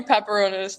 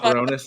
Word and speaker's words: Paparonis: Tony pronounce her last name for me. Tony Pepperonis. That's Paparonis. my friend.